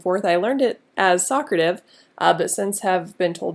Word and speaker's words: Socrative: I learned it as Socrative, but since have been told that it's pronounced Socrative.